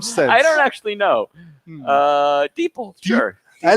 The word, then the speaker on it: DeepL: Is that how that's pronounced? Yeah, Deep L. I thought so. That makes more sense. I was saying deeple this, deeple that.